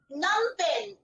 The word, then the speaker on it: Phnom Penh: Numpen. Pronunciation is Numpen. N-O-M-P-N. This is the pronunciation. Spelling is different. P-H, but P is silent.